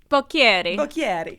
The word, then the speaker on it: Bocchieri: Bocchieri. Yeah. Ooh, I love that. Easier to say it when you pronounce it.